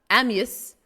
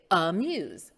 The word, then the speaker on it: amuse: this word amuse amuse we don't say amius no we say amuse amuse the word report